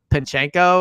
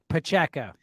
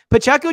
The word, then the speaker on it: Pacheco: back whose name I'll just never feel comfortable pronouncing because I know I'm gonna mess it up but pinchenko or Pacheco Pacheco buy it by Sunday I'll learn it Pacheco just seems like he'd be great in space